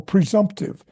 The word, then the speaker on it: presumptive: I think that was, presumptive. See, the same thing. You don't put the emphasis on the first syllable, pre.